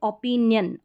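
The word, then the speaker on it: opinion: हैं, जैसे यहाँ पे ओपिनियन, ओपिनियन य करके, ओपिनियन नहीं बोलेंगे, इसका सही करेक्ट उच्चारण ओपिनियन है, ओपिनियन, यन करके हो रहा है, ION यन, तो यहाँ पर इस आई का उच्चारण य है, ये अदर स्पेलिंग्स में है।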